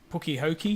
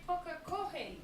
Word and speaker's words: Pukekohe: He was calling it Puki Hoki. He couldn't pronounce it. It's going Puki Hiku or something. I was like, what? I dare say I would be the same with half of your places over in New Zealand. Coca-Cola. Pukekohe, yeah. It's actually Pukekohe.